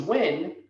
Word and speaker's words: Nguyen: If their last name's Wynn, but it's spelled Nguyen, or their last name's